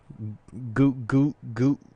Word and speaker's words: Gulak: But why are we making such a big deal about 205 Live when, I'm sorry, dude, Gulak?